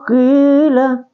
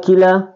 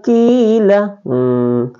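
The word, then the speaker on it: قيل: Kita contoh kembali, yaitu wa iza qila. Jadi tidak boleh wa iza kila ya, tapi wa iza qila.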